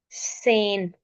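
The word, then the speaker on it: zehn: ए की साउंड न सेन जेड ई एच एन सेन means 10 सेन सो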